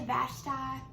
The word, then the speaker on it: Vashti: had a wife named vashti now some people say vashtai i say vashti i'm not all sure how you used to say it we're gonna go with vashti this morning now vashti